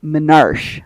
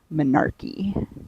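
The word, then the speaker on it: menarche: My grandma used to pronounce it manarch, but it's actually manarchy.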